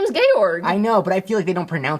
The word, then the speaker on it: Georg: one of the songs it says George in the captions yeah yeah no well that's how it's spelled but they say gorg cuz I I guess that's maybe German or something or a Austrian excuse me Austrian the Germans were not